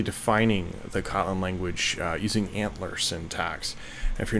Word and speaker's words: ANTLR: attempt at basically defining the kotlin language using antler syntax if you're not familiar with antler it is a very popular parser generator so